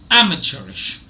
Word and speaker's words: amateurish: itself and yeah so already you know that the first syllable is stressed amateurish amateurish now you may be